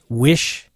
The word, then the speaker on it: Wishan: one's a little old, pronounced Wishan, like fish on.